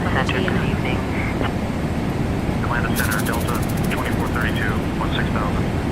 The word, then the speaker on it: Buchanan: Locally, the city's name is pronounced by HANI.